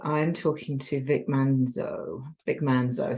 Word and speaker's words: Manzo: Vic Manzo. So I was about to add another syllable in there.